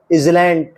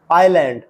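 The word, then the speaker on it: island: और पता लगाइए कि कौन से अक्षर अनुच्चित साइलेंट हैं। Asthma, higher, आइसलैंड, doubt, Ryan, wrapper, वेनस्टे। जी नहीं, ये asthma, hair, इजलैंड, doubt, रियग्न, व्रापर, Wednesday नहीं है, ये है एस्मा दमा, एयर उत्तराधिकारी, आइलैंड टापू, डाउट शक, रेन राज्य, रैपो लपेटने का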